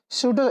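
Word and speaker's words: pseudo: स्यूडो, S silent होगा।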